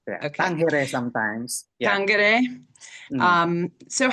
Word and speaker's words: Tangere: Tangere sometimes.